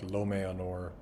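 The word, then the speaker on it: Lómëanor: word like Lomeanor, but the E has dots above it and then there's an A, it means pronounce those are two different vowels. Don't pronounce it as a diphthong. Don't pronounce it, pronounce A-A. Then Fangorn has this whole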